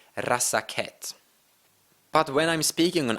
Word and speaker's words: Razaketh: So when I pronounce and say the Magic the Gathering name Razaketh, you can clearly hear that I accidentally have a syllable in there.